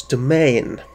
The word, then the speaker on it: demesne: The Duke's demesne is actually pronounced the Duke's domain.